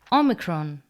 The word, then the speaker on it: omicron: Omicron, pronounced like the O in box.